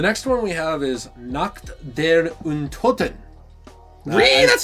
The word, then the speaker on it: Nacht der Untoten: The next one we have is Nacht Der Untoten. That's how you pronounce it?